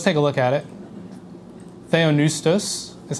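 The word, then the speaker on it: θεόπνευστος: Theonoustos is how you say this.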